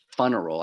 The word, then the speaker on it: FUNeral: the funnel space which I pronounce it funnel I emphasize the fun so um although it's